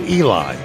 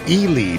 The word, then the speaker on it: Ely: Ele Nevada, not Eli, it's Elely, Nevada. Did you know that?